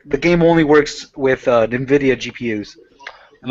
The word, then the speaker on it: Nvidia: So how do you Oh, pronounce? Is it Nvidia? Is that how you pronounce it? NVIDIA.